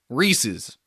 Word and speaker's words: Reese's: The candy was named after a dude whose last name was Reese. And if it is an item that's belonging to or named after somebody whose name was Reese, you refer to it as Reese's. Belonging to Reese, therefore Reese's. Not Reese's.